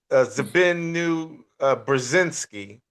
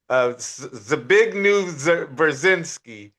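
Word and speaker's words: Zbigniew Brzezinski: It's Zabinu Brzezinski. Yeah, Zabignu Brzezinski, right?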